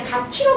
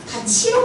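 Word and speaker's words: 같이: 실질적 의미가 없는 이랑 만나게 되면은 이 티읕을 뭐로 발음한다? 치읒으로 발음한다. 그래서 이는 실질적 의미가 없는 건 맞아요. 근데 가티로 발음하는 게 아니라 뭐로 발음한다고? 가치로 발음한다고. 그죠?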